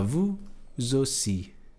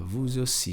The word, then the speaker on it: vous aussi: Quando o vous tá sozinho, o S não é pronunciado.